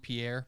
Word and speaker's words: Pierre: the capital which is it's spelled pierre but it's pronounced pier okay and that's on